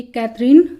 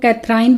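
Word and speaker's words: Catherine: number D है ये कैथरीन वड डॉक है कुछ लोग कैथराइन बोलते हैं इसको तो जो आप इसमें प्रोनाउंस कि करते होंगे व है सी ए टी एच ई आर आईन कैथरीन वो डॉक ये इनकी सेकंड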